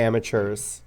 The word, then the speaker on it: amateurs: we pronounce it differently we say amateurs like with a CH sound um all anyways we